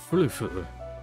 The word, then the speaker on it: Furfur: Furfur. The pronunciation is odd. It's not fur. I know that. It's more like furf, and then the is the other syllable.